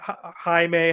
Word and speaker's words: Jaime: Jaime, highway, it rhymes.